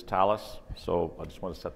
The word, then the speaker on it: Thales: and security at Thales, the British pronunciation of Thales. - That's right. Yeah, if you don't understand how to pronounce Thales, don't feel badly. Most people call it Thales.